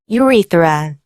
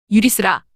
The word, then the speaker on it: urethra: 그 대표적인 예로 ureter, ureter, 유리터, 요관, urethra, urethra, 유리스라, 요도, 유리터, 요관은 신장에서 방광으로 가는